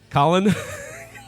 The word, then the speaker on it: Colin: now that he's dead can we start pronouncing his name correctly colin what the [ __